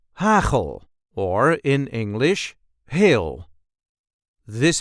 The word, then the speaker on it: hagel: see how to pronounce hle or in English hail. This is the way we say hle. There is a light emphasis on the first syllable.